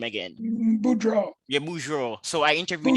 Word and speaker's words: Boudreaux: How do you pronounce his last name again? Boudreaux, Yeah, Boudreaux.